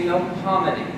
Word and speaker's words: Melpomene: We don't say Melpomene, which is the correct pronunciation of the street. We say Melpomene, which is just a slide transfer from Melpomene in French.